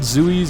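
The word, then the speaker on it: Zthuee: lot of uh i think they're called zooeys or that's what they're usually that's all they're pronounced zooey it's uh it's the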